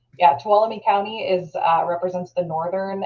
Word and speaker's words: Tuolumne: Tuolumne County, like follow me, Tuolumne. Yeah, Tuolumne County is represents the northern entrance.